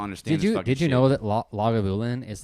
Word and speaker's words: Lagavulin: did you know that lagavulin is like one of the very few scotches Scotch distilleries that is actually pronounced the way it looks like it's pronounced like a lot of